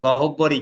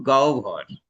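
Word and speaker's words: গহ্বর: মুখ গহবর আবার কি আমরা তো গহব্বরই কইছি সারাজীবন হ্যা মুখ গহভর দেখো এইযে হব ব তাহলে এটা জিহুভা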